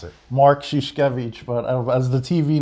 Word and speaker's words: Szuszkiewicz: high school so our next guest is Mark Skoosh kovitch did I get that right no nobody does how do you pronounce it mark sheesh kovitch but I was the TV name like I